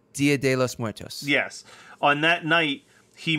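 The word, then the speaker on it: Día de los Muertos: And on I can never pronounce this correctly, but the Day of the Dead, De los Muertos? Dia de los Muertos.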